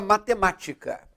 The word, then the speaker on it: matemática: é uma palavra proparoxítona ela tem a terceira sílaba de trás para frente tônica o k o t